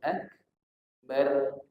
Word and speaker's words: akbar: mati ro sukun atau ro mati sebelumnya berbaris fathah dibaca tebal maka bacanya bukan Anhar bukan Anhar kalau kita Takbir Allahu ak bar bukan bar tapi Allahu akbar nah nah ditebalkan Allahu